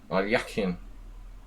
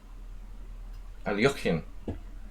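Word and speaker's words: Alekhine: Alyakin. Alyakin. Neftov. What's the point? Point is that we learned to pronounce Alyakin correctly.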